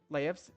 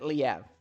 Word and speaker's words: Laev: Is Otto Laev's in there? Oh, also I was actually told that the last name is pronounced Laev, like life, but I don't know. I kind of like pronouncing it Liev.